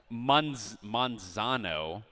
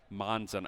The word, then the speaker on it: Manzano: Manzano is how I'm being told is how that high school is pronounced. Manzano. Oh, yeah, that's an A. That's not an O.